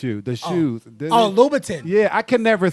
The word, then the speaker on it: Louboutin: Because if they value, I can't even, how you pronounce it? Christian LaSalle. No, not you. The shoes. Oh, Louboutin.